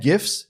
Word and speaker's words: GIF: gifts to google slides yes that's a hard g you're getting it here first this is my two cents gif rg it's not gifs and it's not juggle it's gifts and google anyway having fun there